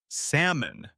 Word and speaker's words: salmon: Or imagine you are ordering food at a restaurant and the menu says salmon. Do you say the L? No, you don't. The L is silent knowing that helps you sound natural and confident.